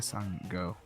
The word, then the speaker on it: Sango: about how about them Sango all right how about why sing or what Sango the entire grammar what who left the five W's it's it it is pronounces a son go okay good to know